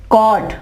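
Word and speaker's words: caught: इसकी GH से पहले यू, कॉट। देखिए यहां पे GH से पहले यू आ गया, ठीक है, यहां पे क्या होगा, ये GH आवाज नहीं देगा।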